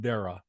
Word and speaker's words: Dara: That's actually pronounced Dara, depending on which family group you're from.